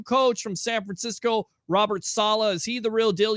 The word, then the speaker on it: Saleh: And I think with a guy like, what do you pronounce, Sally or Soleil or whatever the hell Robert Saleh.